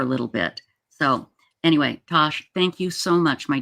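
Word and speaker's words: Tass: But it is pronounced Tosh.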